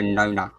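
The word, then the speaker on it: nonna: And so if you're not a nana, you're a nona. And that's the only difference.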